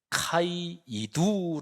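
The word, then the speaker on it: καὶ ἰδού: 아주 중요한 표현이 있습니다 헬라어로 발음하면 카이 이두 라고 하는 거예요 카이는 우리 말로 말하면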